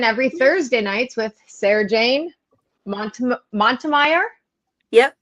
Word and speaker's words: Montemayor: So we got the Cozy Coven every Thursday nights with Sarahjane Montemayor. Yep, Montemayor.